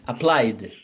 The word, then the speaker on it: applied: So, we pronounce it with D. Repeat, applied.